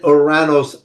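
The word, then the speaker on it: Ouranos: We named the planet Oranos after, as it's pronounced in Greek, we call it Uranus.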